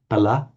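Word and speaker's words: फल: The fruit of action, kriyaya, in classical Sanskrit would be pronounced kriyaya pala, kriya pala. But a Brahmin chanting Vedic, kriyaya pala, almost a slightly F sound to it because it takes on the tone or color of the following sound.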